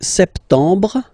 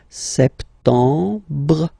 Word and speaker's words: septembre: So septembre, septembre. Remember this EM en septembre. You don't insist on the final E.